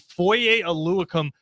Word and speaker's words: Foye Oluokun: And then Jacksonville went and gave Foye Oluokun $15 million a year.